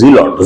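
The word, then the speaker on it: zealot: with the word zelot the pronunciation is zelot z is there that's a zot okay the uh sentence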